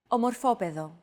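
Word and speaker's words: οροπέδιο: However, the accent mark had to be moved over to a different syllable in order to comply with our accentuation golden rule.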